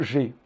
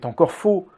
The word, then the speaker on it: g: Au fait, vous dites "geee" en anglais, By the way, you say "g" in English, mais c'est encore faux! but it is wrong again. C'est « gé ». It is « gé ».